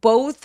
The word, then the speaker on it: both: 자, 여기서 both 할 때 어보가 아니라 b서 우까지 느껴질 수 있도록 요걸 이중 모음이라고 하는데 이중 모음들이 소리 기니까 길게 발음하셔야 돼요.